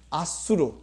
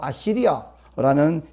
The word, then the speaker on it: 아수르: 오늘 본문에 등장했던 인간 막대기 누구냐면 아수르, 영어식 발음으로 아시리아라는 제국입니다.